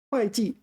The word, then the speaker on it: 会计: 会计 This is one of these rare cases where this is pronounced 会计 is an accountant.